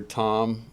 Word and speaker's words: Thom: fun of your name your name is at least to my understanding is spelled t h o m yeah so why is there an H in Tom because my name's Thomas oh so when you shorten it most Toms are Thomas's anyway yeah usually just go